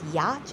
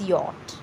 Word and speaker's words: yacht: If you are speaking or uttering the word as yacht, it's not yacht, it's yacht.